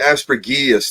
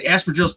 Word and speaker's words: Aspergillus: Well, I always pronounce it aspergillus, thinking that maybe the G is quiet.